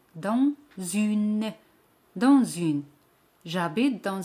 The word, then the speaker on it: dans: J'habite dans une grande maison. Dans significa in o dentro. Dans. Ese al final no se pronuncia. Dans.